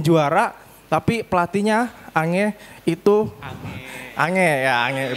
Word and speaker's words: Ange: Bahkan bukan cuman dia saja yang juara tapi pelatihnya Angeh itu ange. Ange ya. Ange bacanya.